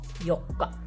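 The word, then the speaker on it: 四日: If we are writing these together, these would be pronounced as yokka, which means the 4th day.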